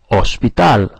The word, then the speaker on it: hospital: In Spanish, the H is silent. So try a hospital. Un hospital.